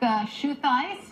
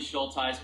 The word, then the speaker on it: Schultheis: Schultheis. Did I pronounce that right? It's actually Schultheis, but you were close, Carol.